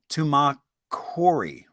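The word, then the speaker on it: Tumacácori: And so today we are going to talk about, let's see, pronunciation. I looked it up. Tumacory, and Carmen, Arizona.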